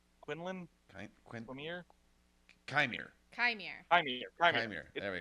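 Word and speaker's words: Qimir: Quinlan? Quinlan? Quin? Quimir? Chimere. Chimere.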